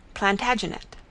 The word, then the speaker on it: Plantagenet: covered with his visor the Latin name for broom is planta janista and gradually it came to be pronounced Plantagenet although Geoffrey was French